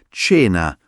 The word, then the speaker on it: cena: Tena, non cena come in inglese, ma più morbida. Cena.